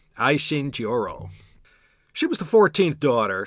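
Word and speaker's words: Aisin Gioro: holiday with his family to confirm the Manchu pronunciation. Aishin Jioro.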